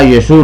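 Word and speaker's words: Iesu: época de del catolicismo se pronunciaba era yesú no Jesús ni Jesucristo sino Jesús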